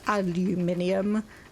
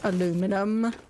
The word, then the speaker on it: aluminium: And yes, despite the way it is written, I am going to pronounce it aluminium, not aluminum.